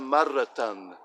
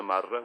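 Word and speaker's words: مرةً: It's kana marratan, kana marratan. And that's just very formal. We can also say kana marra. We don't have to pronounce this last fetain here, and it just sounds just as nice.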